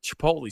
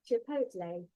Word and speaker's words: chipotle: But I have trouble with, I like Chipotle sauce.